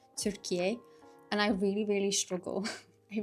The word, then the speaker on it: Türkiye: But obviously to pronounce the word Turkey in the Turkish way, it's pronounced as like Türkiye.